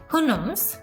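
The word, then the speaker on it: Houyhnhnms: The country of দ্য, এটার উচ্চারণটা ছিল হুনমস, বাট এটার বানানটা খুবই কনফিউজিং।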